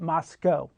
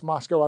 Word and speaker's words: Moscow: And so, co-company, uh the cows are in Russia, but the Moscow is in Idaho. There's no rhyme or reason to that one, but Moscow.